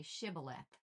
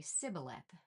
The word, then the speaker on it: Shibboleth: If the men said, "No, I'm not," they would tell him to say "Shibboleth." If he was from Ephraim, he would say "Sibboleth" because people from Ephraim cannot pronounce the word correctly.